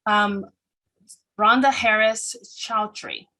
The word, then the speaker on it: Rhonda Harris-Choudhry: I'm your host, Nyssa, and joining me today is Goddess High Priestess and manifestation expert, Rhonda Harris-Choudhry. Did I pronounce that correctly?